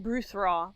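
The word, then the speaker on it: Brudhraw: you're talking about uh DH is pronounced like a soft th so that's something to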